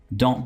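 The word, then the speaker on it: don't: है डोंट be silly यहां पर टी को मैं बिल्कुल क्लीयरली प्रोनाउंस नहीं कर रहा कैसे डोंट डोंट बी सिली मैं इसको नहीं बोल रहा कैसे बोलना है जब आप फ्लूएंटली इंग्लिश बोले तो आपने डों कहना है डोंट बी स डों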